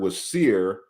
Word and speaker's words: Wasir: And that's why when they spelled Wasir, they spelled it WSYR, or or a long IR, because they're trying to get us approximately to this pronunciation, right?